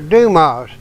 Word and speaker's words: Dumas: Musketeers he says uh Alexander Dumas I said Dumas I said I've been pronouncing it wrong I said how do you spell that he said d m s I said that's where I went wrong I've been putting two on the end of Dumas well that makes